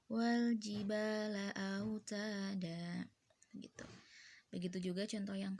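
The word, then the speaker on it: والجبال أوتادا: well GB laut ada Jadi bukan Wal Jibal Aa Uta dan tulisan Emang out Adan tapi kalo bacaannya Wal Jibal laut ada itu begitu juga contoh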